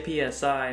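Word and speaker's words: PSI: I used to say P-S-I (pee-ess-eye) but “sigh” makes more sense to me, and that’s how it’s said in Japanese.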